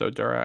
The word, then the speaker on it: Oduro: Now, they just brought in Josh Oduro from George Mason. I hope that's how you pronounce it. Yeah, it's Oduro.